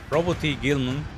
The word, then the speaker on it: Roboute Guilliman: Por ejemplo, Robert T. Gilman, así es como se pronuncia por cierto, cuya resurrección en el